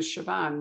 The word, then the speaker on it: Siobhan: no i get it i get confused with siobhan which you know i've only learned to pronounce for me and reagan otherwise i'd still